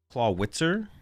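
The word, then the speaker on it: Clawitzer: Claw witzer. Nah, y'all are just wrong. It's named after It's named after the artillery. How? Howitzer. Howitzer.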